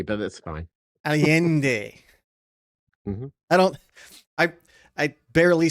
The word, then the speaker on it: Allende: Did I pronounce that right? That'll work. Yeah, Allende, but that's fine. Allende.